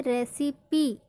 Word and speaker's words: recipe: Rule number 6, कुछ गिने चुने शब्दों में ई का उच्चारण ई होता है। जैसे रेसिपी, RECIPE, यहाँ पे ई का उच्चारण क्या होगा, ई।